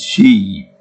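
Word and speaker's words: Xi: President G is she if I pronounce that if I'm not uh didn't mean to meet with Trump during his first uh touchdown in China.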